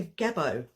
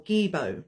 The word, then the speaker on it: gebo: at or set and here we have a gebo or gebo depending on how we want to pronounce it in the letter